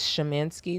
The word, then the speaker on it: Shemansky: It's Shemansky. That's how you pronounce it.